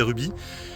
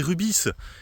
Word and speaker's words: Rubis: 2 ans en arrière je disais Ruby et les abonnés m'avaient dit mais non investe faut prononcer le S c'est rubis et c'est pour ça que